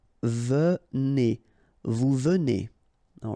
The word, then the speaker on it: venez: Okay, so a Z at the end combine will give you the sound E, and here you've got venez.